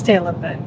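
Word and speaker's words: Tailem Bend: A tailium bend or tailm bend. It's on the sign. Just flick the camera. They can make their own pronunciation. I think it's tailor bent. It's tail and bend.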